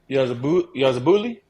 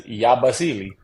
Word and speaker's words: Yabusele: Yeah, no, y'all pronouncing it wrong. Yeah, it's Yabusele.